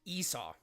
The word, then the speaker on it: Esau: Wait, Esau. Okay, pronounced Esau.